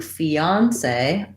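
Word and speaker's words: fiancé: pretty much interchangeable so you can stress either the second or the third syllable most important is getting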